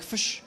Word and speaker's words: FSH: And I have here that it's pronounced more like fish. It says there's no I. There is no I. It's a not great fish. point. It's FSH.